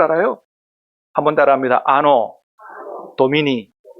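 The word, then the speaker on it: Anno Domini: 뭐라고 읽은다고요? 야, 신남계 수준이 있어요. 라틴어도 읽을 줄 알아요. 한번 따라합니다. 아노 도미니.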